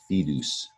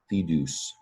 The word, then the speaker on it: fidus: It's pronounced in Latin fidus, fidus.